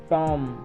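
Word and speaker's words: tomb: टॉम B silent हो गया।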